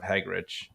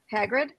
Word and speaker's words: Hagrid: stuff then we have uh the entrance of hagrich no wait I say it right Hagrid Hagrid Hagrid Hagrid okay Robbie Coltrane yeah yes